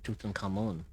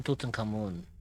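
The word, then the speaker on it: Tutankhamun: as people or as his actual name is pronounced is tuten kamoon people a lot of people also call him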